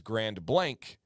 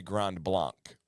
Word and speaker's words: Grand Blanc: heavily French and Native influenced hence the weird pronunciation yeah so my town is Grand Blank but most people say Grand Blanc well and so she just proved my theory